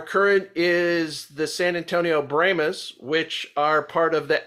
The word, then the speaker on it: Brahmas: Yes, and they're pronouncing the Brahmas. Some of us, we pronounce it Brahmas, but they call it the Brahmas.